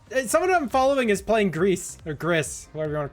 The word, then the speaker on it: gris: in the noname yeah the noname grease g r i s they pronounce it Greece that is that is straight up how they do so so that's kind